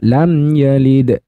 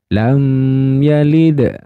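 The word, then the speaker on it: لم يلد: maka dibaca izhar syafawi yang namanya izhar itu dibaca jelas mim sukunnya lam yalid ahah tidak boleh didengungkan tidak boleh ditahan dan tidak boleh dipanjangkan jadi lam yalid lam yalid Nah kalau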